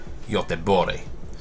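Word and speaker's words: Göteborg: city of gothenburg or other swedish to pronounce it bori now gothenburg is the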